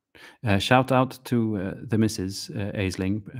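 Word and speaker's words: Aisling: out to the mrs aizling pronounced ashling here in ireland mrs ashling she has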